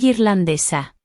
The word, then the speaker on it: irlandesa: There is an accent on irlandés, so the stress is where the accent is, and on the second to last syllable of irlandesa, where there's no accent.